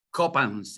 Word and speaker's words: Coppens: En estos tiempos donde se habla de monedas, les recomiendo lo que dice David Coppens, y Coppens se escribe K-O-P-A-N-S, David Coppens.